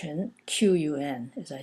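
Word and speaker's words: 裙: then it's pronounced Rin Qun as I said Q in Chinese is pronounced like CH heart ch ch ch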